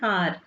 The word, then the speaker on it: hour: A, E, I, O, U and H is silent in some place. Okay. A man, a boy, an old man, an hour.